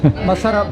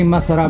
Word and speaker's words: masarap: Masarap ba yung sexy barata? Yes, one of our best sellers. Oh, can you say masarap means delicious?